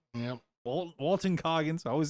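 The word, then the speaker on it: Walton Goggins: TV show Fallout TV show it looks good Walter cogins yep wal Walton Coggins I always say his name wrong I don't care yeah not so sure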